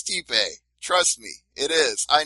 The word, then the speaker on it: Stipe: I didn't think there was another possible way for you to change the pronunciation, but you just came up with Stipe. It's Stipe.